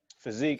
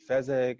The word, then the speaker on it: Fezek: about all right so physique is actually pronounced like the word physique in a dictionary it's just the way